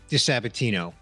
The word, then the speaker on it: DiSabatino: your host Bernie Borges today's guest is Brian De Sabatino welcome Brian thanks bro it's a pleasure to